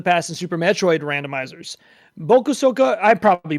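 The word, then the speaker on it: Bokosuka Wars: Bokusoka, I probably butchered that. Bokuzuka Wars. How do you say that, Iggy? Bokuzuka Wars.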